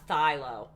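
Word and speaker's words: phthalo: it is a thilocylon you don't pronounce the ph it's a thylo okay that's what i'm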